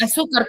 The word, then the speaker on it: azúcar: azúcar. ¿Cuántas sílabas tiene?